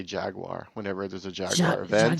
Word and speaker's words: Jaguar: say it like the English say it Jaguar Jaguar I can't do it so yeah it's definitely not Jaguar that's for sure no it's not jagu